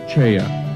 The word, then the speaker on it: Choi: His name is spelled as Choi in English, but pronounced Cheya in Korean.